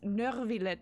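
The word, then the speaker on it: Neuvillette: Nurvlet is how they pronounce it with a very hard R in the middle.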